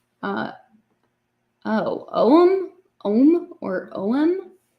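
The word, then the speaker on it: Ogham: pembrokeshire in South Wells the name ogum is pronounced o uh oh om om or om N I would not have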